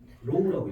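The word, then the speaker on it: ρ: 거고 이걸 집어넣을 거 어떤 기호를 넣을 거. 로우라고 읽어줘. 로우라고 읽어. 로우. 됐어? 로우라고 읽어주고 이게 뭐야? 이걸 비정항이라 그러는데 비정. 로우라고 읽어줘. 로우. 로우라고 읽어준다.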